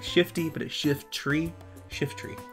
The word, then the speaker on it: Shiftry: you laughing at me you always say shiffy shift tree shift tree shift tree yeah like a Shifty what is wrong with